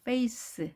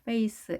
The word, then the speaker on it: face: face. 자, face, face에서 끝나는데요. 자, face 하면 어디까지 발음됐냐면 스까지 발음됐고 e는 발음되지 않았죠.